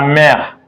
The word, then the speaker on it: mère: Le père, la mère, E is silent. Mère, because of this sound, that sound like air.